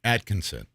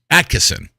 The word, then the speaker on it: Attkisson: on the internet from sharyl Attkisson atkinson Attkisson right I always say her name wrong sharyl Attkisson on this